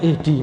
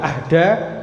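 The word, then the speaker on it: اِهْدِ: dibuang nah fi'il amrnya ihdi maka dibacanya itu ihdi karena dia fi'il Amr gak mungkin baca Ahda Ahda Ahadi ahadu gak mungkin baca lain tapi ini bacanya ihdi kemudian bacanya na Nah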